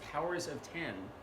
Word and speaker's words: Powers of X: comic whose title who looks like it's powers of X but this apparently pronounced powers of ten they're each going to